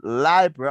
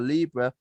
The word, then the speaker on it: Libra: checking, I found that the World Book of Encyclopedia indeed suggested that the pronunciation Libra or Libra, while the American Heritage Dictionary or English language deemed both lie and li to be acceptable.